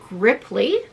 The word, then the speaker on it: griply: in a box they're called griply rhymes with ripley like ripley's believe it or not but they're called griply